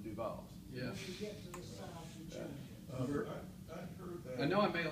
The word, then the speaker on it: DuVal: so does not matter dual or dual dual would be dual would be the more correct pronunciation in French I'm pretty certain that the family just C him duall I know I made